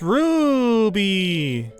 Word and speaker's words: Ruby: Spelled with just one U. Stella, you never say my name right. It's Ruby! Oh, because she's a wolf. Oh. You gotta say it with the roo. Like a roo.